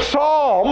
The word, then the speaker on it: Psalm: why do you say Psalm and it starts with the P well it's that that Greek letter is P s and the P is silent we have words like